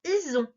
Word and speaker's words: ison: Ison. Ison. Et si tu es prêt, on regarde ensemble. Ison s'écrit I-S-O-N. Le S est bien entre deux voyelles, donc il sonne bien Z.